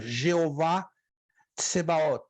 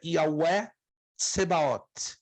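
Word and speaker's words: יהוה צבאות: Um dos nomes de Deus no hebraico é Yahweh Tsebaot, o Senhor dos Exércitos. Já ouviram falar dessa expressão? Uhum. Jeová Sabaoth. Jeová Tsebaot se usa muito na forma latina, Jeová Tsebaot, mas o correto seria Yahweh Tsebaot.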